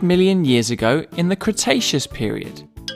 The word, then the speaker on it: Cretaceous: about a hundred million years ago in the cretaceous period cra tay chess so what have we learned we learned